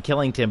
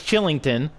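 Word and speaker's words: Kylington: whole time seeing that k instinctively saying killington but it's chillington oliver chillington so my apologies there because i'm pretty sure i've been saying killington this whole game with the k but it's a silent k it's a chillington oliver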